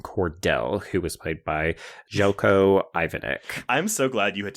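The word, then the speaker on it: Željko Ivanek: I always say Zelko Ivanic. Uh which is probably also acceptable. Yeah, it's definitely one of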